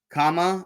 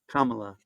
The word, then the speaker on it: Kamala: you say your name how do you say her name Kama or no vice president Harris Kamala Kamala Kamala all right now we can say it so we've learned something